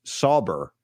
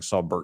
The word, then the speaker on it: Sauber: It's pronounced Sauber. Maybe you've been saying it right, but I've been saying it wrong. I've been saying Saubert.